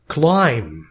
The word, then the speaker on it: climb: Climb. حرف الـ B هنا لا ينطق.